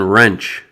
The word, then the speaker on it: wrench: Then we have the silent W, which is not pronounced at the beginning of a word before the letter R, as in wrench, which is this tool right here.